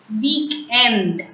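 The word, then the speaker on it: week-end: Here you can think En is the nasal sound and why is it not pronounced as on? We have few exceptions as well as rules in French. So we have to apply the exceptional rule here. So it will be pronounced as weekend.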